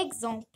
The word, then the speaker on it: exemple: L'avant-dernier mot est exemple. Ici, X se prononce comme exercice.